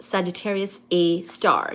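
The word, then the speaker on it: Sagittarius A*: The asterisk is part of the name, which is pronounced Sagittarius A Star.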